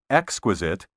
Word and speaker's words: exquisite: pronounced schizophrenia not schizophrenia the accent properly should be on the first syllable in the words exquisite and hospitable weather prognosticators who tell